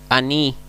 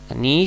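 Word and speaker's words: אני: Ani se dan cuenta se carga más acá acentuación aní aní se traduce como yo Después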